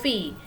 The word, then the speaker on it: filles: Walaupun dia jamak, S-nya tidak dibaca ya. Vos filles.